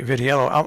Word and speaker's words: Vitiello: uh town council and that is uh jamie vitiello i'm pronouncing your name correctly right am i jamie